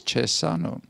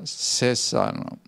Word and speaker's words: Cesano: here cesano I always pronounce because in Italian it's chaser no but it's says on and is